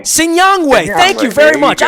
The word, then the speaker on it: Sinyangwe: It's Sinyangwe. Sinyangwe.